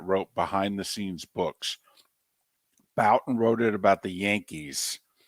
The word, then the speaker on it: Bouton: Bouton.